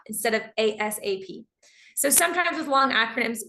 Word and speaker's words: ASAP: we also say ASAP we pronounce it like it's a word get me this document ASAP which is shorter it's two syllables ASAP instead of ASAP so sometimes with long